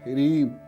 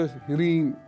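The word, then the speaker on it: ह्रीं: ठीक, एक मंत्र ह्रीम, ऐसे लिखते हैं इसको अंग्रेजी में, HRIM, ह्रीम, ठीक है ना, हृदय ह्रीम, ह्रीम ह्रीम ह्रीम, इस तरीके से उसका उच्चारण कीजिए, काम पर जुट जाइए, लाभ होगा।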